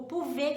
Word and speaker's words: pouvez: S lá no vous, o pouvez que termina com Z, você escuta um som de E, mas você não escuta es, né? Você escuta o pouvez, você escuta um E, você não escuta um es, né? Não tem o Z no final.